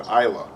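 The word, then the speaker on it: Islay: it yeah I think I think they pronounce it Isa Isa but it's spelled is yeah Ila but he didn't care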